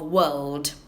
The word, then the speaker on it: world: Listen to me, I'm teaching about the pronunciation of world. For you to get it right, visualize a roller coaster, woo, and a loop. One of those loops.